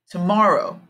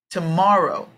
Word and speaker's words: tomorrow: part yesterday yes today this is a three syllable word where the strong part is in the middle tomorrow tomorrow tomorrow okay same thing here